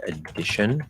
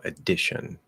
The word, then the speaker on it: addition: It could also be addition. It doesn't matter if there's two Ds, it's just spelling. You never hold a double consonant inside of a word like that. It's always just spelling. So addition, as start of a